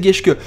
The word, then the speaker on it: Geschke: Donc c'est Geschke, voilà. Maintenant que je sais prononcer son nom, c'est Geschke.